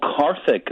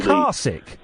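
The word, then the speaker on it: Karthik: There is a man called Carich. His full name actually Caric Yeah.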